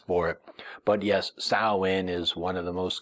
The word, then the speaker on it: Samhain: us nowadays to look back and assume that sawin and belan and all the names of our